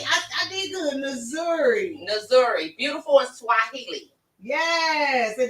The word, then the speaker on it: Nzuri: Nzuri. I did good. Nzuri.